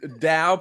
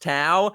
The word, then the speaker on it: Dao: when we did um Dao pronounced Tau and he was wrong